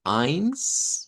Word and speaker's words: eins: El número uno se pronuncia con a. Vamos a decir eins.